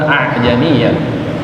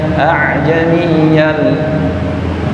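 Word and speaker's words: أَعْجَمِيٌّ: A'jamiyan bukan dari dalam mulut. Bukan a'jam. Kalau kita mengucapkan dari dalam aan, a'am itu seperti ain dua. A'jam seakan-akan kedengarannya seperti dua ain a'jamiah. Padahal huruf depannya apa ini? Hamzah. Berarti diawali dengan a aiyan. Ajamiyan.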